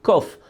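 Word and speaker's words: קוף: erreur, parce qu'en fait ceux qui s'y connaissent dans la langue hébraïque vous diront qu'on ne dit pas Kouf, on dit Kof, comme ça se prononce.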